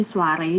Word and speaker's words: soirée: Jadi Soire ini sebenarnya kalau untuk filosofinya, arti namanya aku ambil dari bahasa Perancis yang sebenarnya bacanya soirée, cuma karena terlalu kayaknya agak asing ya dibuat masyarakat Indonesia, jadi kita panggilnya Soire aja, yang artinya an evening